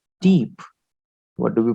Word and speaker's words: type: french but uh sorry in english it is type it is type in english but in french we call it deep what do we pronounce